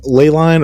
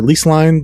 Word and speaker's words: Leyline: There is Leyline or Lease Line, depending on who is pronouncing it, where you can